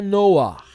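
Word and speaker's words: נח: Noé, na verdade, em hebraico é Noah. Noah significa repouso, descanso. Então o nome certo é Noah, puxando o het na garganta, essa gutural aqui, tá? É o het, tá? O som aspirado, Noah, tá bom?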